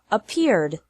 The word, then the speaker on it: appeared: The past of appear is appeared. Appear has 2 syllables, and appeared also has 2 syllables.